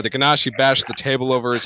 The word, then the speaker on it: Genasi: Apparently, it's pronounced Genasi. Fuck that. It's Ganassi. Exactly.